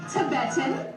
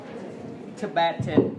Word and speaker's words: Tibet: Nhớ là từ này chúng ta đọc là Tibet, đấy. Chứ không phải là Tibet đâu nhé.